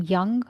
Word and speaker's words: Jung: people in history, Carl Jung. Right? And I don't know if I'm pronouncing his name right. Some people call him Jung, some people call him Young. I would prefer Carl Jung.